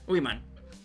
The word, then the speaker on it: women: Women. Oh, wait. I always don't know how to pronounce that. A woman. And the plural is women.